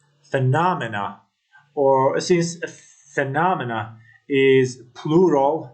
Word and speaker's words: phenomena: other ideas and beliefs in the word phenomena Estus is on the letter N phenomena or since phenomena is